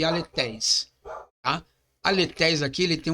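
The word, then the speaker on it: ἀληθής: Então se fala aletéis. E o neutro também se diz aletéis. Sendo que aqui nós temos um eta e aqui ele foi reduzido a um epsilon. Ok? Mas a pronunciação é a mesma.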